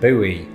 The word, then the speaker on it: buoy: is that thing a boy can serve many purposes its biggest purpose though is starting flame Wars between Brits and Americans the latter of whom usually pronounce it buoy but are you sick